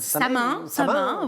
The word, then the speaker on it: Samhain: Je ne sais pas comment on prononce, Samhain. Samin, bah oui.